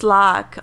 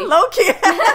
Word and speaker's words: Locke: I think it's Locke. Yeah, Locke. It's not Loki.